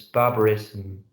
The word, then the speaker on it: barbarism: uh modernism yeah uh are not pronounced like I mean there's like a barbarism you have to really pronounce us those with a uh with a schwabena sound between the two consonants barbarism and really pronounce the